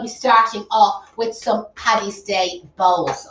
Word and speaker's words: Paddy's Day: starting off with some paddy's day bowls okay now it's a patchy stay or paddies no patty no no there's no patty the americans say that don't they yeah no paddy's day paddy's day jokes